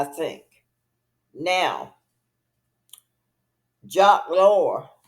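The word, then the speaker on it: Loeb: fertilty see and that's how I think now jock lore jock lore is his name is spelled uh j a q u s l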